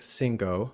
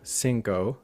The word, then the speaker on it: cinco: So when we say words like cinco, we inadvertently apply the same gliding vowel that we use in English in so or no. So we end up saying cinco, cinco, instead of cinco, cinco. And when we so here you're keeping the O very short in Spanish, okay?